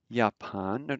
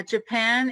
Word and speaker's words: Japan: more of these um japan notice the j is pronounced like a y which we'll get into